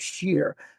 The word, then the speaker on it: Shir: The original band that Steve was in was called Shear. S H I R. Uh which in Hebrew means music. Nice. But it's pronounced like S H E R.